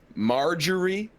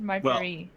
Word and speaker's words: Marjorie: yeah, like Marjorie, like the name, or margarine, like the butter substance. He didn't say margarine. Yeah, he said Marjorie.